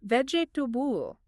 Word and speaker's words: vegetable: That middle E and A sound kind of gets squeezed together or almost disappear entirely. V E DJ Tool. Three syllables.